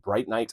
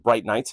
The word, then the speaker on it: Brinyte: This apparently is said Bright Knight. I've been saying it bright because that is how it's spelled, but Bright Night.